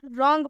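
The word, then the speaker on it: wrong: silent होता है दूसरा रूल ये है कि आर से पहले अगर डब्लू आता है तो डब्लू साइलेंट होता है एग्जांपल में आप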